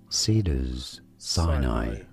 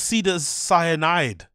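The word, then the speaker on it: Cedars-Sinai: And it's like, no, it's not pronounced cyanide. It's pronounced how it's written. You're looking at how to pronounce the name of this hospital in Los Angeles, California. How do you say it? Cedars Sinai. Cedars Sinai. Cedars Sinai. That's it. It's not hard. Cedars Sinai. Not Cedars Cyanide.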